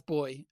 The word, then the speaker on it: buoy: or in England sorry in England English repr pronounce um what you call a buoy um as boy as well so yeah so the